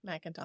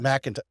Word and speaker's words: McIntosh: I did pronounce that correctly, right? McIntosh. McIntosh.